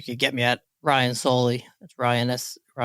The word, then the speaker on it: Saulle: I've been deleting the E from your pronunciation for years. I'm glad you finally told me. I don't think anyone pronounces it.